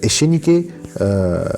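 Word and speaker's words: Echenique: So his predecessor was Jose Rufino Ekenike, I think that's how it is pronounced, or Echenike. Anyway, so his predecessor, he ruled from 51 to 54, and I'm gonna say Ekenike.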